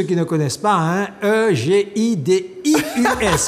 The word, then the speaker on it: Egidius: Donc, Egidius, pour ceux qui ne connaissent pas, hein, E-G-I-D-I-U-S. Je précise, Egidius, pas Egidius.